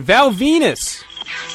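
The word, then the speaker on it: Val Venis: MH and Thrasher and Val Venus rhymes with penis lost to Mr Steve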